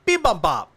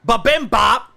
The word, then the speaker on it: bibimbap: And I'm literally just eating in a circle, and I'm like, Yeah, bibimbap. That's the way you pronounce it, not babimbap.